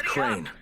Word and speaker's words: Crane: No, my name's Crane. Crane? Putting us behind schedule. Crane rhymes with train, and brain, and sane, and grain, and rain, and plane, and the other kind of plane, and...